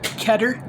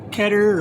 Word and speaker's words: Keter: gonna open this so this is a cutter ketter or keter however you want to pronounce that it's kind of like